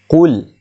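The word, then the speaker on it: قل: Qul. Bukan kul lah. Kul, huruf qa.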